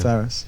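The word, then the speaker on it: Farriss: You had a strange event happen when you formed the band with, is it pronounced Ferris, the brothers in the band? Yeah, Ferris.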